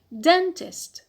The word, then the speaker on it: dentist: Next noun is the noun dentist. Dentist. So here stress on the penult because we have a short vowel in the last syllable, so we have applied rule 2a, short vowel.